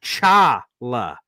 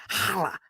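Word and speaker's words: challah: intrigued oh it's oh he's saying it's Chala Chala I thought it was like hala hala I'm trying to get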